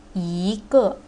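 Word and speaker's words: 一个: We don't say Yi Ge, but we say Yi Ge.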